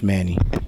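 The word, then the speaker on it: Maney: Do you Hi guys, my name is Iman Kamo and today I'm here with Coach Manny. Could you spell that for us?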